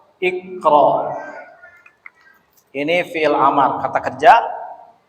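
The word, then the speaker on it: اقرأ: Jadi bacanya kalau huruf ketiga 1, 2, 3 fathah, maka ini jadi kasroh. Kasih baris meskipun aslinya tidak berbaris. Tapi bacanya jadi i. Iqra.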